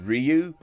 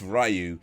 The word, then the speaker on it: Ryu: mentioning although that focuses more on ken and ryu's story and it is pronounced ryu not ryu and legend chun li again actually does say ryu which is unforgivable but mustaches you can't trust